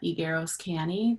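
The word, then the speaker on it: Higueros-Canny: hi um good morning my name is igueroscani the last name is spelled h-i-g-u-e-r-o-s and then it's hyphenated a second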